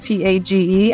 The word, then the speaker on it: Page: I used to, and because my name is spelled P-A-G-E, I used to always say it's page like a book until I started working in publishing, and then I kind of had to stop saying that.